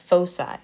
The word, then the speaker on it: foci: or a focal point the plural of that is pronounced foci that's the word you